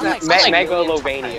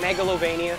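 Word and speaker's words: Megalovania: funny and so is Mega lania is that how you say it Mega lovania yeah you got it song is really godamn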